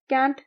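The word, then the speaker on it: Kant: और उन्होंने इस कॉन्सेप्ट को इसलिए दिया क्योंकि ये जो आइडिया है, इट is inspired by कैंट himself. कैंट या कांट दोनों ही प्रोनाउंसिएशंस इनके नाम की सही हैं।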